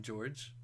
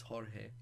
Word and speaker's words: Jorge: Some people call him George, but it's Jorge Okay.